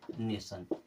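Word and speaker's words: nation: क्या पढ़ते हैं मोशन एन ए टी आई ओ एन इसे क्या पढ़ेंगे नेशन इसे पढ़ेंगे नेशन क्योंकि टी के बाद में आई ओ एन आता है तो टी को पढ़ते हैं स और आईन मिलाकर क्या बन जाता है न बन जाता है ये क्या बन जाता है सन कुछ और वर्ड देखना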